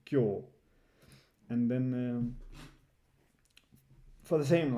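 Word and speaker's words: 今日: It's just kyo, right? That's how you read this whole thing, kyo.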